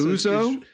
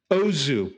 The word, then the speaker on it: Ozu: No, that's Uzo? Uzo. How do you even spell it? I think it's UZO. Okay. Use Tokyo Story. Tokyo Story. Ozu. Sorry. Uzo is a Greek drink.